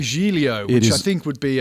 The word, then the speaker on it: Giglio: understand you're European, but his name is Louis Giglio. Gigglio.